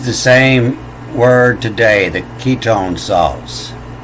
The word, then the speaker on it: ketone: And they still use the same word today, the ketone salts. This Q is pronounced as a K here, the ketone.